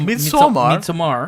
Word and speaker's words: Midsommar: Speaking of scary things, though, Midsommar. Midsummer. That's how they say it in Sweden. Yeah, it's Midsommar.